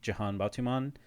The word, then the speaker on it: Jihan Batuman: Um my handle is my name, Jan Batuman.